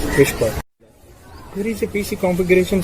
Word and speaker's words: WSPR: WSPR stands for Weak Signal Propagation Reporter, simply pronounced as Whisper.